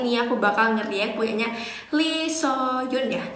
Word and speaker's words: Lee Suhyun: Nah, untuk hari ini aku bakal nge-react punyanya Lee Soyun ya bacanya, punyanya YG itu, yang punyanya Akmu Musician, tapi ini ceweknya.